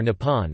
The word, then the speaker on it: 日本: The Japanese word for Japan is Re-ben, which is pronounced Nihon or Nippon and literally means the origin of the sun.